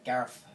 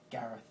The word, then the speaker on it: Gareth: say my name so they can't say the th sound so in Brazil they don't really say th in in Portuguese so unless they're a fluent English speaker they can't really say my name they don't say Gareth they say Gareth Gareth G so and